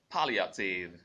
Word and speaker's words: palliative: And then we also learned palliative. Palliative. Palliative. Palliative. And for GA pronunciation of that word, we got it as palliative.